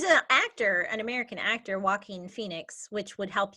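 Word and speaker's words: Jaquin: always get it wrong walking walking j-a-q-u-i-n which i would go not walking walking yeah it's a um it's a spanish name i believe there's an actor an american actor walking in phoenix which would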